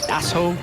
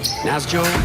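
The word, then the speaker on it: Nässjö: again n a ssj so you eyeball it and you say naso Naas Joo yeah instead you say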